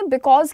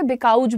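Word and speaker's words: because: तो उन्होंने बिकॉज की जगह बिकाउज बोला, बिकाउज, और उसके पीछे उनका इतना ज्यादा मजाक बना दिया है, एंड आई फील बैड।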